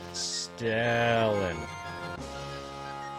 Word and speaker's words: Stellan: You gotta elongate the E. Elongate the E. Okay. Stellan.